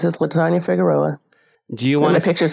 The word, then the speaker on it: Figueroa: It's Latanya, and my last name's Figueroa. It's really hard to pronounce. It took me a while too after I got married. So it's Figueroa.